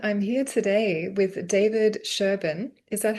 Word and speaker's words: Sherban: So everyone, I'm here today with David Sherban. Is that how I pronounce your name?